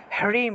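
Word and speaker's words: হ্রীং: হর নিচে ঋ সরি হ এর নিচে র ফলা আছে র ফলা র ফলায় উচ্চারণটা র এর মত হয়ে থাকে তাহলে হ তারপরে রফলায়ার র উচ্চারণ হবে তারপরে দীর্ঘ ইকার তারপরে অনুস্বার আছে তাহলে হৃম উচ্চারণ হয় রিম হরিম এইভাবে হ টা উজ্জ্ব থাকবে তাহলে ওম হৃম ক্লিম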